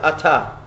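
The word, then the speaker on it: אתה: At, it's written At. It's pronounced Ata.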